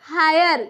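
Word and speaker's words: hire: होता है यानी कि जब भी किसी वर्ड में आई के जस्ट बाद आर ई रहता है तब इस आई का क्या उच्चारण होता है आय उच्चारण होता है तो देखिए हम एग्जांपल्स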